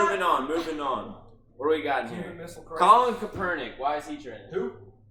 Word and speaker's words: Kaepernick: Am I mispronouncing the name? Yes, Kaepernick.